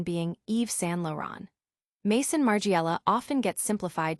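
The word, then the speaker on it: Yves Saint Laurent: Laurent present a multi-art challenge with the correct pronunciation being Eve San Lauron.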